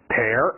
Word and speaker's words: pear: last page， pea 我们说的一种豆子， pea， peach 桃子， pear 记住它的发音， air， pear， potato， last one tomato。